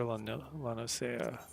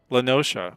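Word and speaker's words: La Noscea: Barbastel and Lower Lanosea. Lanosha, sorry. Lanosea is how I pronounce it in my head. For I don't know how many hours of playing this game until somebody said Lanosha in a cutscene.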